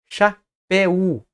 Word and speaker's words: chapéu: Nós não falamos treino. Treino. Nós falamos treino. 2 emissões de voz.